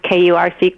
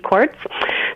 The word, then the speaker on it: Kurc: It's actually in Polish, you pronounce Kurc, Kortz.